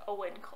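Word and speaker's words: Eoin: fowl by owen colfer i always pronounce it awin but it's owen colfer artemis fowl is one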